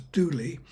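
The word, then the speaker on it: Dula: She was stabbed in a jealous rage by Tom Dooley, D-U-L-A, pronounced in the local dialect as Dooley, and was hanged.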